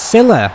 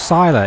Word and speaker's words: Silla: It's Silla, not Sila. It's Silla, man. And apparently I keep pronouncing it wrong.